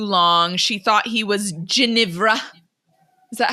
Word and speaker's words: Ginevra: She thought he was Ginevra.